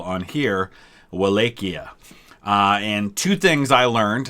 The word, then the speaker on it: Wallachia: they call on here wallachia and two things i learned that i did not know so thank you guys for that number one that it's probably best pronounced as vallajia so valahia is i'll probably try to